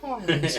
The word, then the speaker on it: Tarney: You've got to say it like that as well, because otherwise no one knows what you're on about.